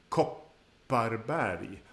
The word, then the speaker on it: Kopparberg: on a short vowel, the following double consonant is very important. Kopparberg. The double P is part of the length of that short vowel sound. So it's very important to really pronounce it.